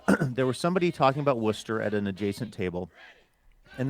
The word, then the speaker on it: Worcester: Uh, pronounced Worcester.